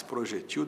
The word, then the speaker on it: projetil: Se você encontrar um especialista em balística, ele vai usar muito mais projetil do que projétil. As duas formas existem. Projétil paroxítona, que termina em L, com acento no E da sílaba G. Projetil sem acento, oxítona. As letras são as mesmas, o acento é que muda.